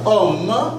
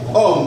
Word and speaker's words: homme: pas trop bien mais homme, c'est la même chose. Tu ne vas pas dire ma ça va être mon à cause du h c'est comme si la h ne se prononce pas.